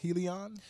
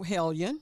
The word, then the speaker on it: Hellion: It's an Olivia Helion. No, Hellion. Hellion, whatever. Hellion. Y'all pronounce it how y'all want.